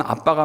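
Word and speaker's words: אבא: 여기 아빠라고 번역된 단어 아바인데 아람어입니다. 사실 발음적으로 하면 아빠가 맞아요.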